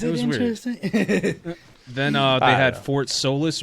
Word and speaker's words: Fort Solis: then uh they had fort solis or fort salas i don't pronounce it uh stars no fort solis and then it has